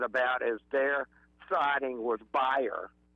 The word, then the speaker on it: Bayer: is their siding with buyer, which we know as Bayer, the aspirin company, uh which buyer is German. That's how you say it really.